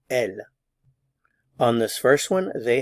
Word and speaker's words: elles: S here IL and I don't pronounce the S here L on this first one